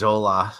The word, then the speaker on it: La Jolla: shop everybody at the pool yeah he's in La Jolla right oh yeah thank you oh la la yeah a lot of people mispronounce in the collage hola yeah it met me they assume it's named